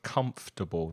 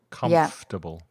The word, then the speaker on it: comfortable: of years uhuh yeah be careful of the pronunciation of comfortable that's sometimes mispronounced as well comfortable comfortable uhhuh yeah well it's funny that now